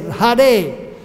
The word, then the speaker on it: Hare: So she is addressed as Hara. And then Sambodhatmak, when one is pronouncing Hara in love or exclaiming, one will not say Hara, then one will say Hare.